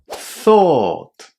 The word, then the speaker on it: thought: But in fact, those five letters at the end are just two sounds in English. O again a long o not o and t or thought. Again really important to pronounce all those irregular verbs that finish in u ght as ought not oat.